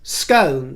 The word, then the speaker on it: Scone: speaking about scone versus scone, jam scones and jam scones. Scone, scone. Well, now there's a third pronunciation of it, which is Scone, which is, of course, Scottish.